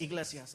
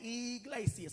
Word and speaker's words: Iglesias: Gabriel Iglesias. I'm pretty sure I'm pronouncing that correctly. Yes, Iglesias. Okay, Iglesias.